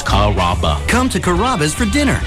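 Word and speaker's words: Carrabba: You know, Kuraba, Kamaba, Kamba. It's a really easy name to pronounce. It's Karaba.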